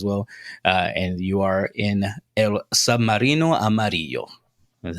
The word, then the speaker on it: El Submarino Amarillo: And you are in El Submarino Amarillo.